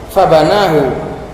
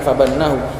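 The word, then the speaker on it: فبناه: dengan nazali secara wazan fabanahu tadi bacanya fabanahu bukan fabannahu fabanahu dimabnikan fabanahu al kasr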